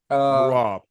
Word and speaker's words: Merab: Merab.